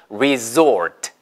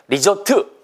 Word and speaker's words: resort: resort, resort, 됐죠? 휴양지란 뜻입니다. 보세요. 시작. 됐습니다. resort가 맞아요. 리조트 못 알아듣습니다.